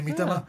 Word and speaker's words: Miedema: I think it's Miedema. Oh, well done. Miedema, is that correct? Yeah, Miedema.